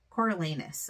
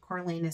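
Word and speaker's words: Coriolanus: and we have um I always want to call him Cornelius but that's not his name it's coralus I think is how you say it coralus snow who as you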